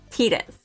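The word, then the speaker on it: Tidus: Well, I think the correct pronunciation is Titus, right? Because it's Tita. Not just like in the Japanese, but like the name comes from the word Tita.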